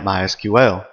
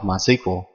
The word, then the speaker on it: MySQL: as you can tell I've been calling it MySQL that is the correct pronunciation however it is also commonly called MySQL if you hear it called that don't be